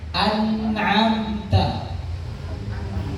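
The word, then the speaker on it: أَنْعَمْتَ: Jadi ketika lidah itu mengucapkan nun itu kan ke atas Bapak Ibu ya, itu ke atas. Nah, setelah dia di atas jangan turun dulu, ditahan dulu di atas.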